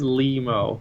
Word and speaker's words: Lemo: It is Lemo. Thank you. Losing Lemo. Like a Nemo.